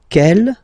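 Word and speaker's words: quelle: same way and then the feminine form is written like that q l l but it's pronounced like the masculine form Kell at the masculine k at the feminine okay so it's basically same pronunciation okay and then here we've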